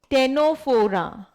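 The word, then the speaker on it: Ctenophora: है बच्चे इट इज टेनो फोरा इट इज टेनो फोरा टी सी साइलेंट होता है इसमें इट इज टेनो फोरा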